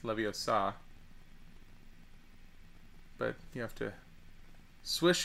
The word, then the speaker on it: Leviosa: says when Guardium Leviosa which is how you pronounce it it's not Leviosa it's Leviosa but you have to swish and flick and